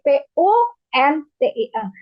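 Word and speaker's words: puntung: Contoh, saya nggak mau baca nih. Nanti takutnya jadi hal riskan nih ya. Puting jadi P-U-N-T-I-N.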